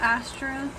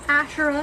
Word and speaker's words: Asherah: let me look up Astra Astra I butchered her name um so her name is asherah and she's a fertility